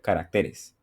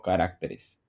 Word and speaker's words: caracteres: Debería ser así carácter caracteres no carácteres sino caracteres es decir que no está el acento en la antepenúltima sino en la penúltima sílaba o sea es grave